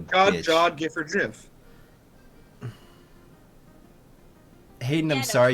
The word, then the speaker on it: GIF: It's pronounced Jif, just like it's, you know, like I'm- God or Jod.